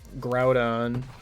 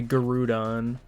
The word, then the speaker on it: Groudon: changed on was um Groudon cuz I'm pretty sure kid me used to say Garudon. That one's just wrong. Yeah, I know. I thought you were going to be one of those sensible people who used to call it like Groundon.